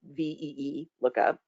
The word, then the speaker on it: VLOOKUP: It tried to phonetically pronounce VLOOKUP. So I had to go in and edit the script so that it said VEE lookup.